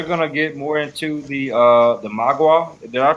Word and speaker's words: Mogwai: They're gonna get more into the Magua. Did I pronounce it right? Mogwai? Yeah, Mogwai.